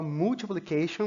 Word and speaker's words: multiplication: Às vezes a gente vai cometer um erro porque é do costume de falar multiplication, mas é importante a pronúncia dessa primeira sílaba aqui, mul.